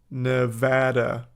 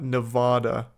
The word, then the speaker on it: Nevada: as a Nevada resident it's pronounced Nevada not Nevada n you don't know